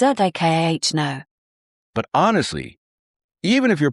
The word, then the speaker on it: Americano: And Americano is ah-mer-i-cah-no.